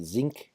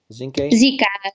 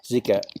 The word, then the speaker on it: Zika: How do you pronounce it? Zinke? Zika. Zika, right?